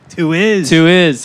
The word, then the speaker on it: Tuiz: Is pronounced Tuiz? Tuiz, yes. Michael and I, Tuiz, are playing a show together at Collider Space in North Park.